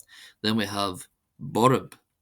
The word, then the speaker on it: borb: Then we have Borb. Borb. Borb. Borb. Meaning fierce or violent. This is pronounced as if it were spelled b o u r a b.